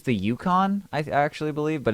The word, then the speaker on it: Yukon: the UK. And for a second, I was just like, what? Is this motherfucker serious right now? No, It's pronounced Yukon.